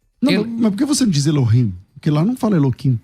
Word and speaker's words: Elohim: Você, ao invés de você falar Elohim, você falou Eloim. Aí eu queria saber o porade. Ah, eu vou falar assim porque não posso pronunciar. Ah, Elo, depois rim eu não posso.